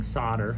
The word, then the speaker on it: solder: the wire on the solder patch i'm seeing solder because that's how the americans pronounce it in australia we say solder so i'm holding the